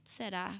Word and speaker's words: será: Será, it's with us, and we do this again, this open e sound. Será. This R with only one roll in the tongue. Será. No, it's not ra. It's será. Será.